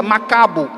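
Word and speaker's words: Maccabeus: recebeu esse nome de Macabeu, que se pronuncia Macabo, que significa martelo.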